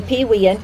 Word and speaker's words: Pewean: She is a Pewean, and yes, that's how you say it, and a member of the Pewee Valley Historical Society.